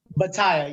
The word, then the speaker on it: Batayeh: First time here Inside the Gilliverse, actor and comedian Mike Batayeh. Mike, how are you? Hello, everybody in the Gilliverse. Did I get the pronunciation right? I hope I did. Did I do it right? Batayeh, yes, you got it right.